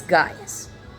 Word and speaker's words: Gaius: That is Gaius. Because that's just how that is pronounced.